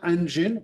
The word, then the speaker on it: engine: Dites bien engine, hein, c'est bien engine, ça se prononce pas autrement.